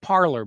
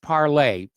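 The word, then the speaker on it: Parler: Now, we have talked about parlay. I know a lot of people call it parlor, but it's the French word for speak. And it's pronounced parlay.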